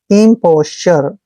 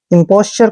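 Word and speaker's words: imposture: हैं ऐसे पोस दोस्तों जब भी टी यू आर ई चारों लेटर इकट्ठे आते हैं तो इसको उच्चारण में चर पढ़ना है चर इंपोस्चर इंपोस्चर का मतलब होता है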